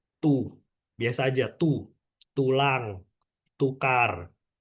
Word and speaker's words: du: Misalnya aku kasih D sama U. Dibacanya jadi tu.